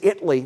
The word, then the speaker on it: Italy: As I mentioned earlier, it's Italy, Texas, not Italy. It's Italy, Texas, and it's not Nevada, Texas.